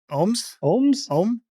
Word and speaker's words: Ogham: The door is covered in OUM, an ancient Irish alphabet pronounced roughly like M's name. So, Om.